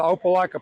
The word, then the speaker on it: Opelika: I'm the president of the Opelika Pickleball Club.